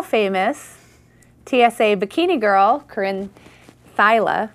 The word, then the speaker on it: Theile: TSA Bikini Girl, Corrine Theile, right? Theile. Sorry. All right. It's spelled not like it's pronounced. But if we spoke German, you'd be right there.